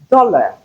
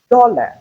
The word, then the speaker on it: dollar: For instance, if you have dollar, dollar, do is stressed, but la is unstressed. Hence, you have the schwa sound in place of AR.